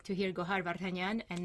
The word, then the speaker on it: Gohar: so nice to hear to like to hear gohan and not like i make it easy to pronounce because once they see with the